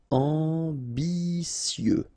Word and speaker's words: ambitieux: Ambitieux, final X not pronounced, and then remember that you get this T, I, and then vowel, so si. Ambitieux, ambitieux.